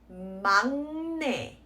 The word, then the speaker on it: 막내: Okay, so again, this word is pronounced as 막내, and it almost sounds like it's a default donut, the sound, right?